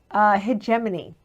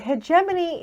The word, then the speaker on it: Hegemony: Hegemony. You pronounced it right. I did. Hegemony is okay.